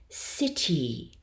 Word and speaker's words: city: So for example, a word like city, that final sound is the hybrid.